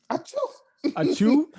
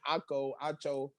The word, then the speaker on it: Acho: Huh? Achu? Nah. Emmanuel Achu? I don't know how to pronounce his last name. Acho. Emmanuel Acho.